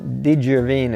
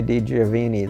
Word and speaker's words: DeGiovine: It gets pronounced all kinds of ways. DeGiovine is one of the ways people say it. Giovine means young, so DeGiovine, of the young.